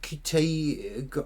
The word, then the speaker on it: Ncuti: Is it Ncuti? I can't pronounce his name. The new guy's doing it. I believe I may be wrong. The N is silent.